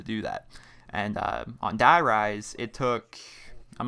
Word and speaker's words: Die Rise: have tried to do derise on my own die rise i keep pronouncing it wrong sorry i'm stuck in